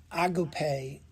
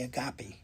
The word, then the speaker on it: agape: I learned it agape but some people say agape.